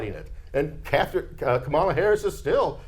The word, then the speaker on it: Kamala: Madam vice president name her name is Kamala not Kam not Kamala but Kamala right uh that's that's there